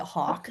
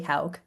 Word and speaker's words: Hul: A lot of people actually pronounce it Hawk. They go Hawk. And I'm like, "No, Hul."